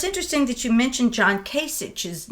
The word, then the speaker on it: Kasich: Kasich.